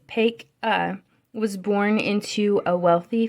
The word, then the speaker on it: Paca: Paca, pronounced Paca, was born into a wealthy family on Halloween of 1740, not far from Baltimore.